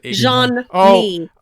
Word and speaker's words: Jean-Mi: I thought it was Jean-Mi. Oh, okay. Jean, like Jean, the French pronunciation, and then me, M-I.